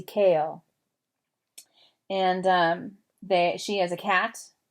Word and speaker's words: Cahill: if you want to if you want to say her name like the movie star people do she said to say it like kale like the vegetable not Cahill but kale Josie kale and she has a